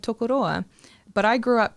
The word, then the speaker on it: Tokoroa: parkia Pacific island um they now pronounce it tokoroa because we as a